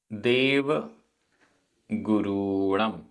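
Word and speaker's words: देवगुरूणं: देव गुरुणम र में बड़े ऊ की मात्रा है।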